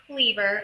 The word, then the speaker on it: Kliewer: Okay, so We Used to Live Here by Marcus Kliewer. I know there's no V in his name, but that's how you pronounce it.